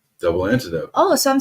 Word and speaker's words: Double Antidote: I love it and how do you say double antidot double antidote oh so I'm saying